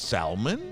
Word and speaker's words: salmon: ¿Por qué en español es salmón? Se oye la L. Pero ese es en español. Sí, pues en inglés, salmon. No, en inglés ¿verdad? es salmon. Yeah. Salmon. You all say it wrong, I say it right.